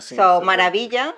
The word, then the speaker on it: maravilla: maravilla, wonderful, rhymes with Sevilla.